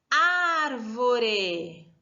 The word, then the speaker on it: árvore: Agora da palavra árvore, árvore.